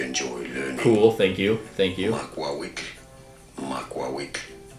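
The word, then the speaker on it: macuahuitl: Makwawik is how it is said. It's easy. Makwawik. In English it is often pronounced as Makwawitl, but...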